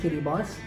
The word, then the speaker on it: Kiribati: it is written a cicada party but is pronounced Katie boss have the birds the Sun and of course